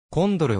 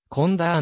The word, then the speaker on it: Conder: は暁ええええコンドルはオランダ風の読み方でコンダーの方が英語に近い著書増加必携に